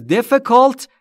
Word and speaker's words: difficult: It is difficult یعنی اون سخته. Difficult یعنی سخت. Difficult نیست دوستان تلفظش. Difficult. آی ها به صورت کوتاه و بین ا و ای.